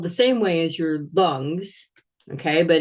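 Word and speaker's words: རླུང་: And it's spelled the same way as your lungs, okay? But in Tibetan, it's pronounced lung with a long O, okay?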